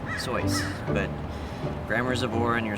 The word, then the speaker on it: Seuss: really Zeus is it I can see how you deduce that it's pronounced Seuss but when using your voice you would say it soy but grammar's aore and